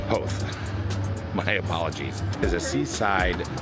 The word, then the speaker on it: Howth: going up north to house house I think it's pronounced house ho okay I'm wrong I heard Nery in the background ho my apologies is a